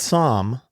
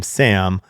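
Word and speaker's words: Saam: I'm Som of Mockingbird, and I hate when people mispronounce my name Sam, but I've learned to just deal with it.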